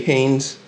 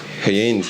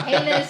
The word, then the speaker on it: Heynes: How do they say it? Heynes. Yeah. Heinous. It's not ketchup.